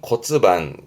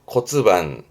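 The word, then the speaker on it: 骨盤: 발음은 코츠반, 코츠반.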